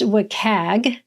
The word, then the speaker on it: WCAG: that we talk about in our conversation is pronounced wacag which is an acronym for uh well it's